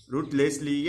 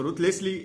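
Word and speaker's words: ruthlessly: इसका उच्चारण रथलेस भी होता है, ठीक है, हम लोग इसको रूथलेसली उच्चारण करते हैं, लेकिन इसको रथलेसली भी उच्चारण होता है।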